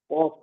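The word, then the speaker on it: ق: পরের অক্ষরটা উচ্চারণ করুন কফ হ্যাঁ কফ কফের উচ্চারণটা একটু মোটা খুব মোটা হবে কফ এবার কফ এর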